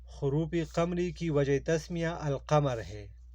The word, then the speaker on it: القمر: وجہ تسمیہ القمر ہے۔ عربی اسماء میں جن حروف سے پہلے الف لام لکھا جائے اور ان کا تلفظ کیا جائے، یعنی الف لام پڑھنے میں بھی آئے، حروف قمری کہلاتا ہے۔ مثلا القمر، العصر، الفجر وغیرہ، ان میں ہم